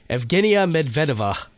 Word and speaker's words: Evgenia Medvedeva: That would be the Russian lady skater that goes by the name of, oh god, it's Russian, so I'll try to pronounce this. Evgenia Medvedeva, I believe is how it's pronounced.